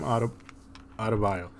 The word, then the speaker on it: Adebayo: Went to overtime, and it got Bam Adebayo.